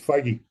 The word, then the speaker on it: Feige: It's Feige.